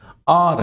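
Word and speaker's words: hour: यहां भी एन लगेगा आर है ये आवर नहीं है आवर नहीं है इसमें एच साइलेंट है क्या है जी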